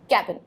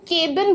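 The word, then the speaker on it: cabin: होता है that is कैबिन। सो कैबिन के लिए हम केबिन बोल देते हैं, ए पे बहुत ज़्यादा स्ट्रेस देते हैं, but actually the right pronunciation is कैबिन, ना कि केबिन।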